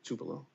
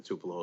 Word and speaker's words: Tupelo: Is it Tupelo? Tupelo. Looking at a very large industrial asset in Tupelo as well.